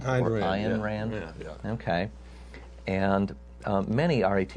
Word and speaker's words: Ayn Rand: This is by I believe her name is pronounced Ayn Rand. Ayn Rand.